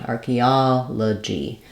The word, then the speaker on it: archaeology: a vowel schah just sounds like an a sound archaeology and then we have uh the letter G saying the J sound here in this word rather than a g sound um we typically spell that at the start of words with g or with J so I've Rewritten it here like J in Jump archaeology we also have archaeologist